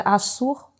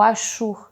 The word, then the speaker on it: Assur: verdade com a cidade-estado chamada assur ou ashur dependendo da pronúncia e daí que vem